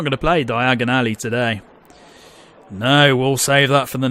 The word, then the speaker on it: Diagon Alley: Oh my god, how come I can't pronounce Diagon Alley? Jesus Christ. Diagon Alley, there we go.